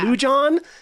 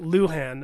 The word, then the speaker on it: Luhan: They'd be like Lujan, and she'd be like Luhan, and so she changed it just to be easier for Americans.